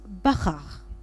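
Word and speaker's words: בחר: le mot choix qui se prononce Bachar avec trois lettres bê R et rche donc l'essence même de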